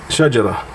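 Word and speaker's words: شجرة: Another way, let's try the word shajar or sahar or shajara.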